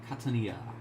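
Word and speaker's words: Catania: Uh, Kat Katania. Katanaia. Yes, that's how you pronounce that.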